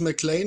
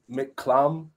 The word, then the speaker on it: McClam: or something yeah um it's always um make clam but that's close enough but you know I really don't care anymore because I'm used to it but um yeah mcclam also in school they say McLean a lot I get McCain